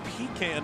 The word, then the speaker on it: pecan: How do you say that word? Pecan. Pecan is what you say, Bob. Peacon.